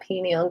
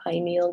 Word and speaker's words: pineal: We're going to go to that pineal gland now, or pineal gland. It's pronounced in different ways.